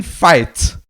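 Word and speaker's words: Fite: a fake person because his name is ranking fight rank and fight right yeah but it's written like this oh it's spelled f-i-t-f-i-t-e fight right ranking fight like ranking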